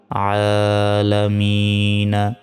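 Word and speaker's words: ٱلْعَالَمِين: মি নুন জবর না আলামিনা এখানে থামলে এখানে তিন সেকেন্ড টান হবে উচ্চারণটা হবে আলামিন আলহামদুলিল্লাহি রাব্বিল আলামিন [সশব্দ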